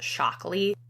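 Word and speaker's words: Shaklee: pretty sure she's with I think it's pronounced shockly at first I thought it was make Wellness but after I dug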